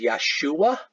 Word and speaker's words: Yeshua: along his name was Jesus the proper pronunciation of his name was Yeshua Yeshua Yeshua Christie at Nazarene